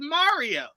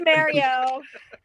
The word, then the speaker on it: Mario: own name that's fine if we're talking about the cartoon character mario the man says his name and he says mario no argument to this it's mario mario i'm like i'm just